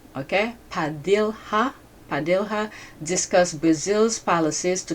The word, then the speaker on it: Padilha: During their meeting, Padilla, I think I pronounced his name wrong. Okay. Padilha.